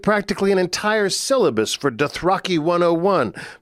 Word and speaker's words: Dothraki: an entirely new creation I interpreted how I thought george RR martin one of these things pronounced and then did something to reflect that though I apparently got it wrong he pronounces Dothraki Dothraki he records every line